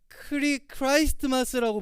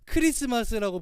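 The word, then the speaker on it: Christmas: 근데 잘 보면 T가 어디 갔어요? 마스 있잖아요. T가 없어도 돼요. 크리스마스. 근데 굳이 T가 있단 말이죠. 우리는 원래 크라이스트마스라고 부르지만 시간이 지남에 따라 뭔가 편하게 부르고 싶고 발음이 어렵고 하니까 크리스마스라고 부르지만 실제적으로 크리스마스의 본연의 의미는 바로 크라이스트마스입니다.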